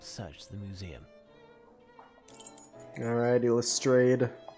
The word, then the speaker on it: Lestrade: the museum all righty lestrade or lestrade as it should be pronounced nothing to report mr